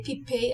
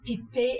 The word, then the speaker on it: Piper: Pipet is definitely not pronounced like the English word piper. You say Pipet as the French do. So one more time, Pipet Heidsieck.